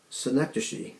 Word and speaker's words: synecdoche: where everything rhymes with synecdoche, I think is how you say it. It looks like synecdoche, but it's pronounced like Schenectady.